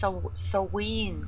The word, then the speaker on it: Samhain: I think it's pronounced Soween correctly, is it? Because in German it's just Samhain. So Soween, something like that, I think.